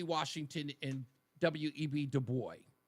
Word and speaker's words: Du Bois: Du Bois. I believe his last name is pronounced Dubois, but they say Du Bois.